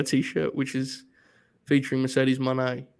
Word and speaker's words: Moné: you listening, that was just Jaychele just showed her T-shirt, which is featuring Mercedes Moné. Moné is correct, right? Moné. Yeah. Money. Yeah. It helps if you say it like the song.